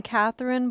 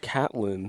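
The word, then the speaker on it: Catelyn: saying her name wrong we were saying Catherine but we found out it was c katn c catlyn c CN catlyn Stark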